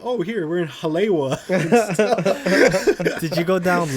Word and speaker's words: Haleiwa: Like highway, exactly. like highway, Halewa. Like, oh man. Now I know. Now I know about Panana. Panana. Is it Panana? Yeah, Panana. So Panana. Or maybe Yeah, we're so- saying it wrong. No, I don't think Nah, so. I think you guys. Panana. Nope. Banana Street and Halewa. Yeah, I was like, oh, Haleiwa.